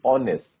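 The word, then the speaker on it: honest: ऑनेस्ट में H silent रहता है तो साउंड कैसी आती है, ओ की साउंड आती है, ऑनेस्ट, ठीक है।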